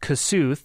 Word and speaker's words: Kossuth: Oddly enough, there's also a county called Kossuth. That's how we pronounce it, but it's named after Kossuth Lajos, the hero of the 1840s Hungarian Revolution.